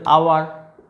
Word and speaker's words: hour: যে ওয়ার্ডগুলো, এদের উচ্চারণ, এরা এইচ দিয়ে শুরু হলেও এদের উচ্চারণটা মেনলি কী দিয়ে আসছে, ভাওয়েল উচ্চারণ, ঠিক আছে। অনার, honest, honourable, আওয়ার, HOUR, আওয়ার মানে 1